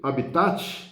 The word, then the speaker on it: habitat: né ela passou direto do latim para a pronúncia no português então ela escrito habitat mas se lê habitat o habitat é como